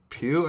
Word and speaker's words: Pugh: And forgive me if I pronounce her name wrong. Florence Pugh, I think, is her last name. I think it's Pugh, yeah.